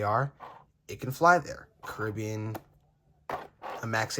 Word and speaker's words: Caribbean: Caribbean, or Caribbean, however you say it. Caribbean's the proper way to say it, because no one says Royal Caribbean. You say Royal Caribbean.